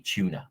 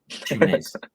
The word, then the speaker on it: Tunis: Because even a rotated side, as we talked about, should surely be Tuna. If that how you say it, Tuna. I have no idea. Tunis. There's an S on the end.